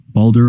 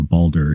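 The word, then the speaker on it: Baldr: bold or Brave is spelled as balder in Old Norse often with an a with a ring above it indicating a long a sound celebrated as a paragon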